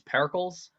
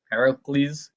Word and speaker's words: Pericles: were going for but this is perkles yep Pericles you didn't say the L you didn't pronounce it